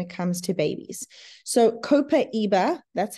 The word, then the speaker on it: copaiba: essential oils when it comes to babies so copaiba that's how you pronounce it top left is brilliant for teething